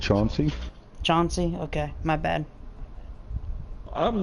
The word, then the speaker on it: Chauncey: The longest name in history of NFL is Chancey Gardner-Johnson. Hit power B, zone coverage B-, pursuit C is number 1 on the list. That would be a good pickup right there. I believe that's pronounced Chauncey.